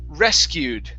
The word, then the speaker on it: rescued: This word here is pronounced rescued. The stress is actually at the beginning instead of rescued.